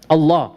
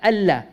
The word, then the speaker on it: Allah: Typically, if the lam has a shadda, we just say Allah, Allah. But the name of Allah, to show it respect, we do something called tafkhim. We do something called heaviness. And all of us, we pronounce the name not as Allah, but as Allah. That heaviness is only for this name.